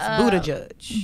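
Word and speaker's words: Buttigieg: reparations and I just looked up how to pronounce his last name is Buddha judge Buddha judge marianne williamson but she really has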